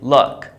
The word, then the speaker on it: luck: This one here is The U is pronounced as in fun. So I say luck, good luck.